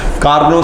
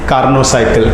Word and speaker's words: Carnot cycle: कार्नोट साइकिल, कार्नोसाइकिल, आप इसको कार्नोट पढ़ सकते हैं बट करेक्ट प्रोनाउंसिएशन इज कार्नोसाइकिल।